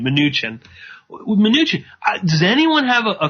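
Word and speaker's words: Mnuchin: with with uh um munchin or minuchin excuse me it should minuchin I just realized that's how you say his name minuchin minuchin does anyone have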